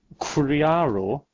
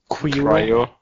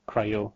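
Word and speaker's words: QRIO: Cryo. Oh, cryo. I suppose so. Well, yeah, you just stumped me there. But Criaro? No, it's cryo.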